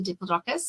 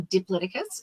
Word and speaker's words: Diplodocus: But then I also have my favorite character called Dippy the Diplodocus or Diplodocus, and my favorite dinosaur because both pronunciations are correct.